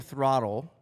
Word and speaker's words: throtl: So we went on voice to text and we started removing letters but we still wanted it to phonetically sound like throttle. So we removed the E and it still sound like throttle.